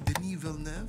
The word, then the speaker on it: Denis Villeneuve: which is the director yes that's how you pronounce his name denal n I'm just showing off but denal love just